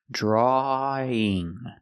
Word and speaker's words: drawing: no ww sound so we take the sound a at the end of draw and Link it to the in sound link The Sounds drawing draw in together drawing so you can say